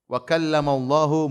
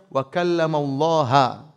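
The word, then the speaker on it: وَكَلَّمَ اللَّهُ: berbicara dengan Nabi Musa itu cara bacanya Allahnya ditombak wakalamallahu sehingga maknanya Allah yang subject Musa yang objek Musa Alaihissalam kata mereka harusnya dibaca bakal lam allaha Allah objek Musa ngomong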